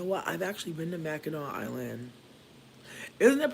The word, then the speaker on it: Mackinac: I've actually been to Mackinac Island. Isn't it pronounced Mackinac or am I tripping? It looks like Mackinac. It's pronounced Mackinac.